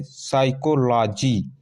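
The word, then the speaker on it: psychology: देखिए साइकोलॉजी, पी एस वाई, पी एस वाई सी एच ओ एल ओ जी वाई, यानी एस से पहले पी है स्टार्टिंग में तो ये पी साइलेंट है, नहीं पढ़ा गया है, बल्कि एस से स्टार्ट हुआ है, साइकोलॉजी।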